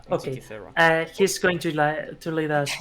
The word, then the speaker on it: Antikythera: Or Antikythera in English. Antikythera. Okay. Antikythera.